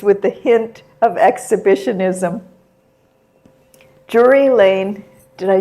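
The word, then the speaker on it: Drury Lane: Jury Lane.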